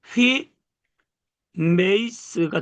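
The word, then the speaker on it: ὑμεῖς: 그래서 발음을 휘 메이스가 되는 거예요.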